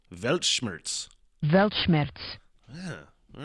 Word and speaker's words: Weltschmerz: No, Weltschmerz. I'm looking at the pronunciation. Weltschmerz. Weltschmerz.